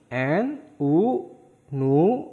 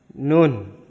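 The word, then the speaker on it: 눈: Terus yang ketiga ada kata nien, n, u, nu, ada nien akhir dibacanya n. Berarti ini kata ini dibacanya nun. Dibacanya nun. Artinya salju.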